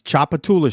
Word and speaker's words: Tchoupitoulas: It is spelled It's Tchoupitoulas Street.